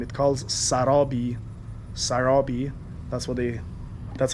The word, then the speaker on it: Sarabi: Sarabi. That's how they pronounce it.